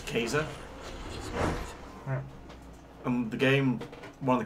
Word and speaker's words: Caesar: Caesars actually plan skater which over the Latin pronunciation of Caesar is actually they have no scoffs II so it's Kaiser um the game one of the characters in